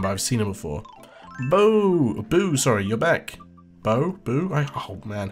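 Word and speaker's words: Beau: Okay, Bo is correct. Gotcha. That's what I think, because whenever I see, like, E-A-U-X, or, yeah, no, so, yeah, E-A-U-X, that's pronounced O.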